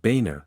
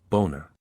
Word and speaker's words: Boehner: John Boehner is a politician whose original German name, Boehner, was changed to Boehner by German Americans over time. However, due to the spelling, his schoolmates used to pronounce it as Boehner.